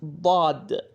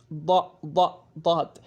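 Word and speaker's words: ضاد: Again, this sound does not exist in English or in any other language.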